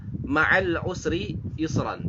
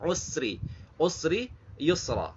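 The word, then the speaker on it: مَعَ الْعُسْرِ يُسْرًا: Nah, di sini sering jadi kesalahan dibacanya ma'al usri yusra. Jadi ada s-nya itu, sin-nya itu seperti ada apa namanya? Seperti kokolah, memantul, padahal itu tidak boleh. Usri, usri yusra, usri yusra, ya.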